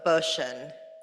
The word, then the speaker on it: Boshin: For our administration, we have John Vogt from our legal department, Lisa Carrion, and Jill Boshin. I said it right this time. Rhymes with motion.